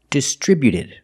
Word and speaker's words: distributed: When we add e d, the t at the end is between vowels. So, it's a fast d, not distributed, but distributed. Distributed. Put the stress on the second syllable only.